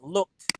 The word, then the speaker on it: looked: you say this look it's like this looked very good looked teacher it's a d again it might spell like that but the sound is what we're after looked all right very good